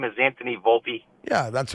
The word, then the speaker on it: Volpe: as they should it ain't hard to say Volpe and while to a lot of people it's